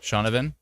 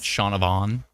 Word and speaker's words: Shaunavon: pronunciation person of all time so ven V pronounce it ven ven ven shavan not shaunavon correct might adding a little bit too much